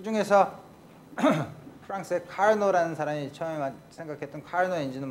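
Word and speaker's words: Carnot: 같은 과정을 거치는 엔진을 카르노 엔진이라고 그래요. 프랑스 사람이니까 이 뒤에 발음을 T 발음 안 하죠.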